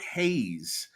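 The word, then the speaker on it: Reis: right now uh F first things first Vitor Hayes is actually how you say that last name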